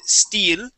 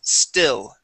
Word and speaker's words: still: with the word still focus on the short eye sound you said Ste okay so let's try that first the word is still still still still there